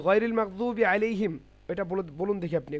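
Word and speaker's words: غَيْرِ الْمَغْضُوبِ: হ্যাঁ, সূরাতুল ফাতিহা গায়রিল মাগদুবটা পড়ুন। গায়রিল মাগদুবি আলাইহিম বে হবে না, ওয়ালাদ-দাল্লিন। ঠিক আছে, বে হবে না, ওখানে বি হবে।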